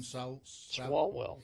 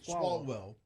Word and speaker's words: Swalwell: Swalwell. Swalwell.